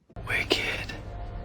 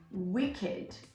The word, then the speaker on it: wicked: We actually say wicked. And we make it sound with an id.